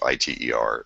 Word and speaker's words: ITER: is is talking about it's probably eer or Eider depending on how you pronounce it it's iter it's the the project